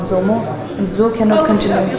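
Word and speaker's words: dzo: So if you want to experiment on Zomo, there are lots in Tibet.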